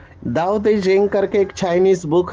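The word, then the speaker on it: Tao Te Ching: दाओ दे जिंग करके एक चाइनीज बुक है, अभी उसका स्पेलिंग है टीओ, लेकिन प्रोनाउंसिएशन में वो दाओ दे जिंग कहते हैं।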